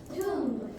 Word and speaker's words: tomb: Tomb. We do not pronounce the B. The B is silent, like comb.